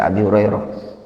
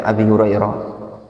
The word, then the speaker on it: Abi Hurairah: Dibaca Abi Hurairah. Makanya ketika belajar seperti ini, antum latihan mikir, kenapa sih dibaca Abi Hurairah?